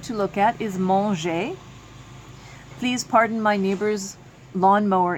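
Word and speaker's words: mangent: Then we have manger, M-A-N-G-E-Z, and mange, M-A-N-G-E-N-T, and of course, E-N-T is silent.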